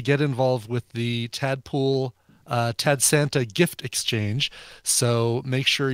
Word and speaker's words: Tad Santa: Yeah, rhymes with Sad Santa.